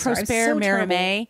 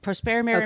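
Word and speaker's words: Prosper Mérimée: I believe Prosper Merimee. With French. My high school French, that's what I believe it is. Prosper Merimee.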